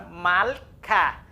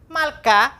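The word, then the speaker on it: מַלְכָּה: Veja a partícula do feminino, vamos transliterar ela, M-A-L, aqui o estiver é mudo, o K e a partícula do feminino, câmex e re. Então nós temos malká.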